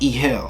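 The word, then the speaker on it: egel: we have this spelling e-g-e-l is pronounced e hill right here it's it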